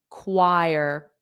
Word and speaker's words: choir: So, it's a K sound at the beginning and then choir or choir and there's like a W like choir choir choir choir.